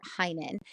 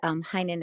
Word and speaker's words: Heynen: code, and you just enter my name, Heinen. And Heinen is spelled Heynen.